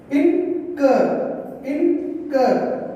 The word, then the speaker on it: incur: The last syllable of a longer verb is stressed. Here see the last syllable. Syllable means here incur.